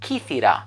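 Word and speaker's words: Κύθηρα: peloponnese and it's called kithira that's how you pronounce it in Greek and the region is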